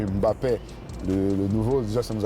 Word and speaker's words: Mbappé: On ne prononce pas le M de Mbappé.